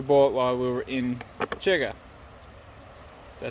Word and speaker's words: Cherga: So this sausage or salami we actually bought while we were in Churga. Did I say it right? Churga, yeah.